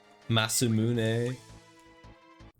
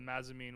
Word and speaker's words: Masamune: mazumine what are you saying oh my God masumune that's how you pronounce it masamune yeah I always call it mazzamine when I was a kid growing up too there's another one I used to say Mass immune yeah it's basically a katana on steroids I